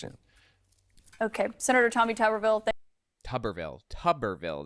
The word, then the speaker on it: Tuberville: Tuberville, that's how it's pronounced. Okay, like bathtub, Tuberville.